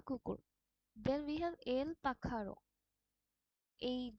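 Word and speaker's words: pájaro: Spanish আলফাবেটে এই জিনিসটা role আর এর মত উচ্চারণ হয় এল যেটার অর্থ হচ্ছে ডগ বা কুকুর এল পাখার এই যে এর মত যে আলফাবেটটা স্প্যানিশে আছে সেখানে সেটা খয় মত উচ্চারণ হয় এটা হচ্ছে এল পাখার মানে বার্ড বা পাখি এলিফান্তে এলে যেটার মানে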